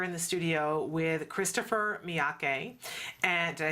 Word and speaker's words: Miyake: We are here in the studio with Christopher Miyake.